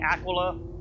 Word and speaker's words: Aquila: The only constellation that I've considered is the Aquila, or Aquila, depending on your preference of pronunciation.